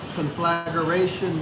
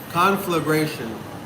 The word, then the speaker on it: conflagration: was doing okay uh conf floration means conflagration is a proper pronunciation listen y'all conflagration conflagration now a large destructive